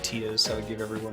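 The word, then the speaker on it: Tidus: So I pronounce his name Titus. I think that's how it should be pronounced. Other games have said the other one, which is Titus, and I owe you all 5 short points for saying that.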